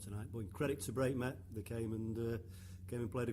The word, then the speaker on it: Breightmet: No one knows how to pronounce Breightmet, you said. Is that the right way? Breightmet, I believe that's the correct pronunciation.